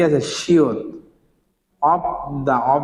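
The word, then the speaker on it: 없다: তাহলে এটা কি হবে, মানথা, মানথা মানে কি বেশি, আনথা মানে কি বসা, অব দা মানে কি নাই।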